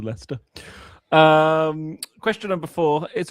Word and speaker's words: Leicester: I'm pretty sure that they just do it because Jester rhymes with Lester.